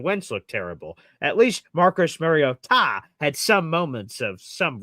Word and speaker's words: Marcus Mariota: that apparently were in the conversation, which was Marcus Mariota, apparently how you pronounce it, which I guess, thanks for letting